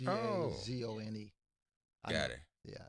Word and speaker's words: DAZN: Is there a way to pronounce DAZN. DAZN? DAZN. It's Oh, DAZONE.